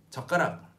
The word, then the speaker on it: 젓가락: So, 젓가락. Please repeat after me. 젓가락, 젓가락, 젓가락, but 젓가락. Although it's 젓가락, when you pronounce it fast, this 시옷 becomes one with 기역.